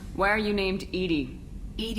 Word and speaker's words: EDI: are you named ed ed is the phonetic pronunciation of Ed I that is an acronym for enhanced defense intelligence yes nothing different where